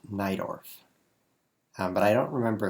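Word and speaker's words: Najdorf: Sicilian by the way if you see NJ dorf n AJ d o RF it's not pronounced like that um it's pronounced nidorf um but I don't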